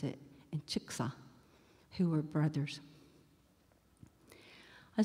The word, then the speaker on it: Chickasaw: thought she was Cherokee, but were Choctaw and Chickasaw, or Chitta, which is the way we pronounce it, and Chicksa, who were brothers.